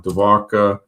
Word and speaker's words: Dwarka: Dvarka um ancient city of Moendaro.